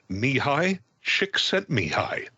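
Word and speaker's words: Mihaly Csikszentmihalyi: uh repeat after me me high chick sent me high uh is his name it's a great name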